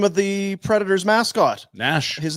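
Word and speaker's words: Gnash: of the Predator's mascot Nash his name bar is g no G there's G but no you don't say it pronounce silent is what they call it so I'm G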